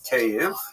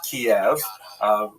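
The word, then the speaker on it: Kyiv: That's the Ukrainian pronunciation by the way that's favored today because of course Ukrainian is the dominant language in the country. But it used to be called in English Kiev, which is closer to the Russian pronunciation because Russia dominated much of this area in the modern era.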